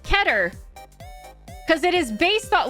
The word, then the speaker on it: Keter: It is actually not Keter. I looked it up. It is not Keter. It is actually pronounced Keter.